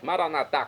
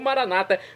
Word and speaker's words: Maranatá: Como dizemos nós católicos, Maranatá com a tônica na última sílaba, ou Maranata, como dizem nossos irmãos separados, os evangélicos ou protestantes.